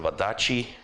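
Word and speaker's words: Wadati: Wadachi. That's how you pronounce the TI.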